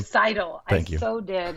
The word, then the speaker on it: Seidel: Seidel.